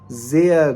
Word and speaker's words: sehr: पहले लगे हुए हैं, अगर आर या ई आर किसी वर्ड के लास्ट पर आता है तो इसको हम आ का साउंड देते हैं. यानी कि आर को, अगर आर किसी वर्ड के लास्ट पे आएगा तो ये हमें आ का साउंड देगा. जैसे zum Beispiel, for example, was ist das?